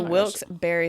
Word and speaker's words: Wilkes-Barre: And then we have, Randy clarified again how to say this one. It's the Wilkes-Barre Scranton Penguins.